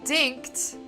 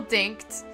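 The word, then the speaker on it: Dincht: I always thought it was Dinch, and then I realized the T is like after the CH. It's, yeah, anyway. So, Zell Dinkt.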